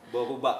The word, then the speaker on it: boruba: Boruba, bukan berubah ya Kak?